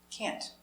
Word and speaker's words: can't: Can't. Negative. I can't. Pronunciation. Cat. Can. Can't. I can't go. So, important. Intonation. Stress. I can't go. For a negative, put the stress on the helper. Can't.